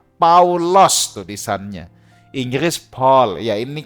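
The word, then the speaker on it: Παῦλος: itu nama Yunani Romawi Paulus kalau dalam bahasa yunaninya lebih tepat paulos tulisannya Inggris Paul ya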